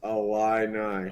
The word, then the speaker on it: Illini: So it's pronounced Illini. Oh, God. Okay. Well, I'm sorry. It's literally, you just take all the O's out.